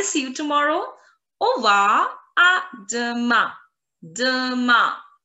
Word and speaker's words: à demain: tomorrow, you would say, à demain, à demain, à de, D-E. Sound of the letter E is E, E. So it's going to be de, de, de.